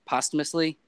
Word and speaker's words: posthumously: Posthumously?